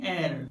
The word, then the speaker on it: heir: जरा आप यहाँ इस वर्ड पे गौर करें, यहाँ इस वर्ड का स्पेलिंग है HEIR, लेकिन यहाँ पर एच साइलेंट है इसीलिए इस वर्ड को कहते हैं एयर।